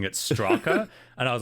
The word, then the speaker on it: Straka: video on S because I pronounced the mysterious author character's name Straska, even though there's no second S in his surname. I was just like the entire time going Straska, and then looked on